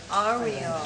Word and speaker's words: Oreo: his name is Oreo Oreo just with same pronunciation of Oreo that I mean the cookies but not he is